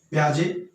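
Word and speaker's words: Piaget: इसके फादर कौन थे, first one A, इट वॉज प्याजे, T is silent.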